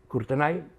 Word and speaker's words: Courtenay: i, per l'altra banda, Courtenay, que ho hem de pronunciar a la francesa, no? Courtenay, perquè vés a saber com es pronunciava això, perquè a Hongria no parlaven francès.